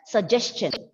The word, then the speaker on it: suggestion: The word is pronounced as suggestion. Suggestion, yes. Because, listen, this is the phonetic symbol for cha.